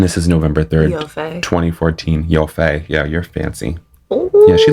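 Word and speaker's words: Yoffe: is November 3rd 2014 yofei yeah you're fancy yeah she looks fancy right like she's got she looks almost like it's yaffy but she pronounces it yofei yes and I'm okay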